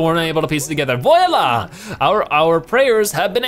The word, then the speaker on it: voila: open wide for us I said boy Allah I don't know how to pronounce it for whatever reason voila voila voila voila yeah